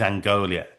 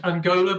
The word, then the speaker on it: Angola: 87th is Angolia. Angola. And yeah, that's normally pronounced Angola by the way.